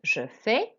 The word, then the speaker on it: fais: Again, we don't pronounce consonants at the end. Je fais.